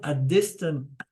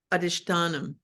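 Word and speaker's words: अधिष्ठानम्: Okay, the word adhistanam. Am I pronounce it correctly, Lynn? I think closer would be adhishtanam. Adhistanam, thank you.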